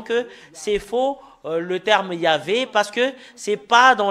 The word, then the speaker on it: Yahvah: voyons dans le chef t des Juifs c'est yava et ça prouve très bien que voilà la vérité juste en haut qui euh confirme cette ce terme que c'est yava qui est le vrai il avait n'est pas